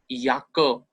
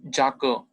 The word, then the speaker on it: Jacke: Then J is not J sound or J, it's yacht, Y sound. Ya wali sound, yacht. Yakke, not Jacke, or not jacket.